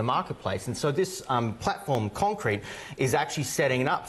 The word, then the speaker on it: Konkrete: Yeah, so one of the things, one big project that I'm working on is something called Konkrete, and it's spelled Konkrete, which is because we love a tricky spelling.